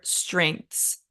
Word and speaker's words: strengths: So some words are also very low on vowels, like the word strengths, which is hard to say when you're not accustomed to English pronunciation. Strengths, right? There's one vowel sound in there.